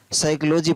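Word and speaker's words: psychology: और यहाँ पर भी साइकोलॉजी पढ़ रहा है, पी साइकोलॉजी नहीं पढ़ा रहा है, प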